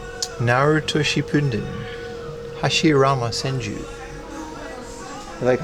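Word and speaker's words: Hashirama Senju: Hashiama Senju. You like how I said that? That's the actual pronunciation.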